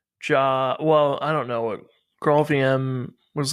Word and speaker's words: Graal: Truffle Ruby is, it's Ruby that runs on Grail, I think. That's what it's called. Yeah. It's I don't know Grail how to VM, pronounce Graal.